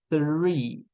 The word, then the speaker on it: three: A gente estava falando sobre o som do TH e a pronúncia do TH é ponta da língua entre os dentes e sopra.